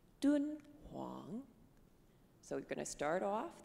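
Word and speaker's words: 敦煌: the Gobi Desert and this is how you say it in Chinese dude Wang so we're gonna start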